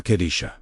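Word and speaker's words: Qadisha: Kadisha is spoken with emphasis on the second syllable, Qa, which carries the consecrating frequency that sets the command apart from ordinary speech.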